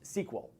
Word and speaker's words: SQL: stands for query language it is pronounced sequel it's a language that